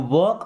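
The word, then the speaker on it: walk: यू वॉक away from here, देखिए you means क्या होता है आप, इसे पढ़ते वॉक, एल साइलेंट हो गए, वॉक का मतलब चलना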